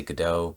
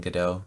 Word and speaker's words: Godot: But I finally settled on Godot, which, by the way, is pronounced probably 3 or 4 different ways by different people. Godot, Godot, Godot. So I say Godot, but lots of people say it different ways.